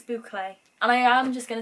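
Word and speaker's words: bouclé: It's like a boucle or boucle. I don't know how you say it. Boucle? I don't know. I will find out. Boucle. It's boucle.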